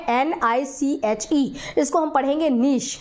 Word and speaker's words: niche: हैं हैबिटेट, या इसी को बुलाया जाता है नीश, है ना। वर्ड आप बार बार देखेंगे कि बुक में लिखा है NICHE, इसको हम पढ़ेंगे नीश, है ना, क्या पढ़ेंगे, नीश, है ना।